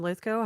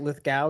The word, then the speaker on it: Lithgow: Because you guys have all said John Lithgow. Have I been mispronouncing his name my entire life? Like Lithgow, you've been saying?